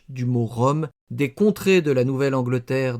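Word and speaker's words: rhumb: Cependant, ce mot que je prononce rumble afin d'entrair l'orthographe en réalité se prononce Rome. Le B est muet.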